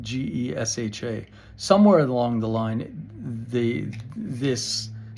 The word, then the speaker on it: Gesha: Now, I had said that it came from the region of Geisha, spelled Gesha.